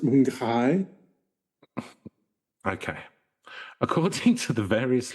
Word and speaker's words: Mapinguari: I think you'll find it's pronounced Mapinguari.